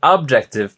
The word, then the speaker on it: Objective: paper that I'm writing yeah but really you pronounce it objective because it's it's the C with the objectoriented